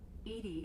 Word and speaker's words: EDI: ED is the phonetic pronunciation of EDI.